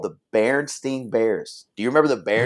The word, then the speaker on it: Berenstain: Bearstein. That's what most people would say. The Berenstain Bears. It's Stein. No, Hank. It was always Stain. The Berenstain Bears.